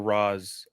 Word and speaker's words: Ra's: Like, honestly, with the whole thing with Ra's though or Raz, I can never remember how you pronounce it. Ra's is the proper way. Even Talia says that in the animated series.